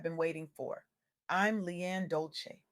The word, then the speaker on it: Dolce: I'm Leanne Dolce, pronounced doulce, like sweet softness whispered in French.